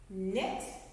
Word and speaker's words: knit: before i do okay that k is silent so this word is actually no new knit like you're knitting a